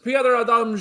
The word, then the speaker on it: Piotr Adamczyk: Piotr Adamczyk. Yes, very good. Okay. Next time. Piotr Adamczyk, hello.